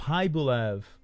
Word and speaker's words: Khaybulaev: Khaybulaev. Khaybulaev. Oh, I was saying his name wrong the whole time.